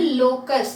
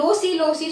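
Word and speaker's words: loci: ஸோ நிறைய பேர் லோசி சொல்லிட்டு இருப்பாங்க, அந்த மாதிரி ப்ரொனவுன்ஸ் பண்ணாதீங்க லோசின்னு, இட் இஸ் லோக்கை.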